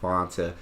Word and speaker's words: Fanta: And it's actually pronounced Fanta originally.